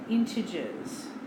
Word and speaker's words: integers: we have what's called integers I know it doesn't really sound like that when you spell it out but that's nonetheless